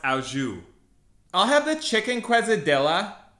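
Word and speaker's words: au jus: can I get the French dip with extra o juice it's pronounced auju I'll have the chicken quesadilla it's actually quesadilla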